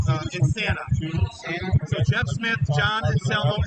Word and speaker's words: Insana: Last name is I-N-S-A-N-A. It's pronounced A-N-A. It's called Insana.